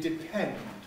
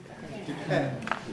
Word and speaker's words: depend: to practice after me depend depend now why is there aspiration there it's not in the beginning of the word no but it is at the beginning of a syllable depend and let's just